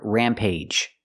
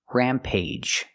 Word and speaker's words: rampage: the last word Rampage sometimes we have two syllable words with ag at the end and it makes a long a sound like with one syllable words age page and cage the same sound here Rampage there are only